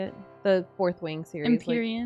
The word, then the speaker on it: Empyrean: I think it's a good like balance between is it Rimpian? How do you say it? The Fourth Wing series. Empyrean.